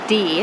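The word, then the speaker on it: Dee: of that I'm also very tired because I did not sleep well neither did Scott so we're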